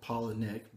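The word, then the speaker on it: Palahniuk: Paula and Nick so he makes his name sound like their name even though that's not how it spelled um well in addition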